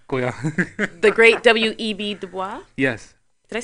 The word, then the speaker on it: Du Bois: Du Bois. Yes. Did I say his name properly? Du Bois.